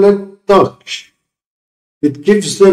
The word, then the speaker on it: Dockge: it hasn't interesting name the developer has recommended that we pronounce this program like Dodge so we will call it Doge it gives the name